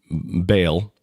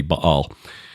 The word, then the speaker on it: Baal: And that the link between Baal, and I know that's not the proper pronunciation, but that's what most of us use, so I'll use that just for familiarity's sake. It should be Baal.